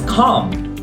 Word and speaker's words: calm: exceptions so for example the word come it's calm without the L walk talk there is